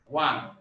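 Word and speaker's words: one: এখানে এখানে ওয়া আসছে, ও থাকলেও এখানে উচ্চারণ আসছে ডাব্লিউ এ, তার মানে ওয়া, ডাব্লিউ এ এন, বিষয়টা এরকম আসছে উচ্চারণ ওয়ান, তার মানে এখানে ডাব্লিউ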